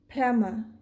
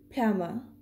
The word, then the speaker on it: plumber: in the british pronunciation this word is plummer plummer because we do not pronounce r when followed by a wall in british english so this will be plummer it's a schwa sound of vowel right in